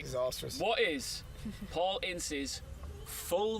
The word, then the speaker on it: Ince: It's actually, I want to make sure I get the pronunciation right here, Ince.